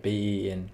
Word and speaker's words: Beinn: Is it Ben or Ben? It's pronounced Ben, bro. Like Ben.